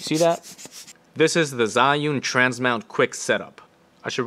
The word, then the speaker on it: Zhiyun: This is the Zhiyun Transmount Quick Setup. I should really pronounce this right.